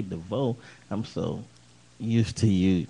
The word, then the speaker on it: Devoe: you just put in the search engine Devo and my name is spelled k n n e d e e